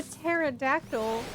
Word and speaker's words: pterodactyl: Hey, why can't you hear a pterodactyl going to the bathroom? It's because the P is silent.